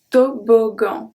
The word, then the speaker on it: toboggan: When we have two G in the middle of a word, sometimes it's going to stay as a hard G. Let's see the example and then you will see why.